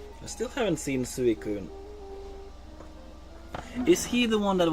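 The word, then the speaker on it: Suicune: it's it's ente and it's not suun it's suun it's different it like believe me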